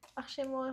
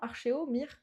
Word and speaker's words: Archéomire: Archémoire, je l'avais bien prononcé d'abord. Bah oui. Mais non, Archéomire.